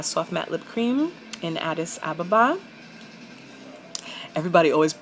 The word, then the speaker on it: Addis Ababa: for the uh soft matte lip cream in addis ababa everybody always mispronounces this addis ababa is a place in africa actually um rastafarians